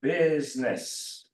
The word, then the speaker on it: business: would be from business so business nobody reads this eye so this is silent um if you say